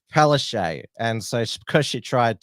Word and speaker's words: Palaszczuk: name as Pala chuk because that is the correct polish pronunciation but she told us that it was pronounced palese and so because she